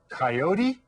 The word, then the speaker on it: coyote: English it's called a coyote right remember to always pronounce those vowel sounds the same make that o real round Co right now that